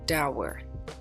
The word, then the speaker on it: dour: Pronunciation breakdown, dour.